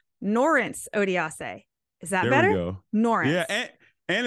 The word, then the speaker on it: Norense Odiase: this but I want to say it right norence odiase is that better yeah and it's good because